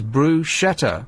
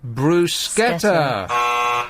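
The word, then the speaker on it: bruschetta: two phonetically spelled options 63% pronounced brushetta as bruet which you just said rather than the correct Bruce sketer wrong do you still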